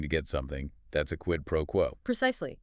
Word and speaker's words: quid pro quo: Quid pro quo. Q-U-I-D-P-R-O-U-O. quid pro quo, like QUED pro QUO. Stress on the first and last words.